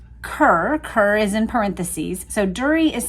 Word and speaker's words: Durie: Rumors come out that there was a first marriage that was not Jackie, named Durie Malcolm, and that it had been listed in the family genealogy.